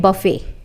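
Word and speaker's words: buffet: है हमारी लिस्ट में बफेट बफेट यहां पर टी साइलेंट है इसको कई लोग बफेट और कई लोग बफेट भी बोलते हैं बर्फी का मतलब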